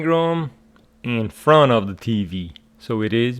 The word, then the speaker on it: TV: And you know that the stress of these contracted words or abbreviations is on the last letter. For example, TV, the stress is on V.